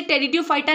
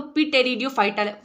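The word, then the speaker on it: Pteridophyta: तो नहीं लिख सकते क्योंकि उसमें पी साइलेंट है जो उसको पढ़ा होगा वही तो लिख पाएगा जैसे अगर इसका हम लोग उच्चारण करें तो पी टेरियो फाइट निकलेगा लेकिन रेडियो फाइटा जो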